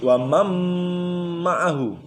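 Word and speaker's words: ومن معه: Cara membacanya idgham bi gunnah. Idgham ma'a gunnah. Wamam ma'ahu. Nun matinya hilang, masuk kepada mim. Wamam ma'ahu tapi disertai dengan dengung.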